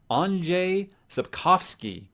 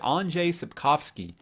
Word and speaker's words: Andrzej Sapkowski: Okay, I went to these actual thing where you can go and listen to how they are pronounced by people in Poland. And so if I'm still saying it wrong, I'm just never going to get it right.